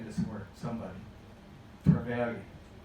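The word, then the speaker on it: Trevilian: Trevelyan. Trevelyan. The L's, the second L being pronounced like Hispanic, like a Y.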